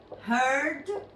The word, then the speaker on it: heard: Si veis, lo único que hemos hecho es agregar una D, pero su pronunciación cambia. Esto es hear, por ponerlo de alguna manera, y sin embargo esto será así. Heard. Hear y heard. Esta D hace que cambie la pronunciación de lo anterior.